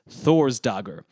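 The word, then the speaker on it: Þórsdagr: Anyway, the Old Norse word for Thursday was Thor's dagr and as you can hear, there's no N in there and the trend of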